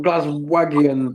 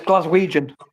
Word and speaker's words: Glaswegian: It's not it's not glazagian though. Yogi it's a very funny pronunciation from side Liverpool. Well, let me hear you say it. Uh it's Glaswegian.